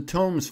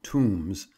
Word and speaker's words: Tomes: The Tomes family, who pronounce their name Tombs, and have many kinsfolk